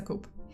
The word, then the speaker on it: coupe: time when you just you know pronounced cool as a coop well that's how I'm gonna pronounce it from now on so it's a coupe how dare your friends